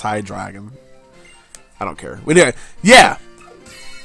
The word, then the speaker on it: Hydreigon: Yeah, that's how you say it, because it's German. Zweilus, Dino, and Hydreigon. Yeah. It's not Hydreigon, it's Hydreigon.